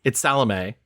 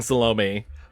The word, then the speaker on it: Salome: It's Salome. Salome. That's how you say it. And I watched that entire movie and I was like, why do they keep saying Salome?